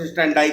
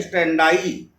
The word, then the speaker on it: standi: इसी को कहते हैं लोकस स्टैंडाई का नियम। लोकस, स्पेलिंग लिखिए LOCUS, लोकस। फिर दूसरा इसमें शब्द है स्टैंडाई। स्टैंडी है लेकिन उसका प्रोनाउंसिएशन स्टैंडाई ही पढ़ा जाता है, STANDI, लोकस स्टैंडाई। तो इस कठोर नियम को